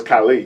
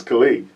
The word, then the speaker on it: Kali: pronounced well mispronounced khali like people think my name is khali but it's not khali it's kali yes but i get khali